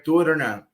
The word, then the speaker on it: Turna: Turna, and that's how I pronounce Turna, right?